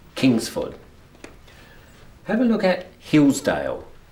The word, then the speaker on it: Kingsford: The correct pronunciation of this is Kingsford. So you can hear that this is the strong one. So it's Kingsford.